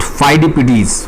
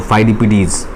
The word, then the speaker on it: Pheidippides: The Greeks Saint फाइडिपिडीज, फाइडिपिडीज ये spelling है PHEIDIPPIDES, जिसको कॉपी में आप 3 बार 4 बार नोट डाउन कीजिएगा ताकि स्पेलिंग इसकी याद हो, फाइडिपिडीज।